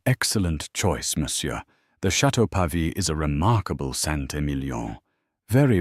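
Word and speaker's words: Pavie: "A Bordeaux, perhaps the uh Chateau Pve." He horribly mispronounced Pavi. Corin the Sumelier gave a polite, tight-lipped smile. An excellent choice, Msure. The Chatau Pavi is a remarkable Santillion.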